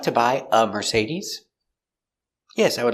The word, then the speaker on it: Mercedes: merce mercedes z mercedes use a vibration with your z-sound mercedes mercedes mercedes the stresses on the sea mercedes mercedes we talk about cars we say uh would you like to buy a mercedes yes i would like